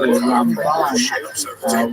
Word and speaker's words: Ramban: Typically, especially in Ashkenazim, we distinguish the difference because we say Ramban with the accent on the last syllable, and Rambam, the accent on the first syllable.